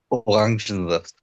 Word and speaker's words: Orangensaft: Orangensaft. Orangensaft. Okay, help me spell this, okay? Orangensaft. Is that right? You missed an N after And the sorry. E. Orangensaft.